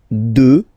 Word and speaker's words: deux: Deux. Final x not pronounced, okay.